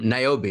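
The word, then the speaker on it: Niobe: at the chat box for a second um naobi okay yay I got the name right okay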